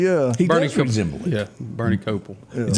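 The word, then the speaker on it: Kopell: Chase to me yeah he resem yeah Bernie copel is how you pronounce a copel but you know who doesn't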